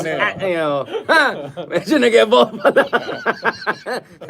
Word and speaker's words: Ateneo: Arneo, Ateneo, We know it as Arneo, Arneo. but it's Ateneo.